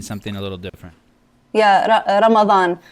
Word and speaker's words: Ramadan: Yeah, Ramadan. It's the D. You can say it like a TH, like a the. Ramadan. Ramadan. Oh, it's like a marathon, but a Ramadan.